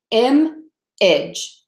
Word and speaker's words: image: see that okay so image is spelled I am a GE but it's pronounced with two beats image image image okay um